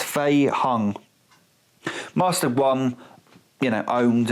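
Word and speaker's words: Fei-hung: young must have won i keep getting his name wrong because it's faye hung master one you know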